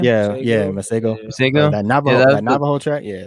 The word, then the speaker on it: Masego: Yeah, Masego.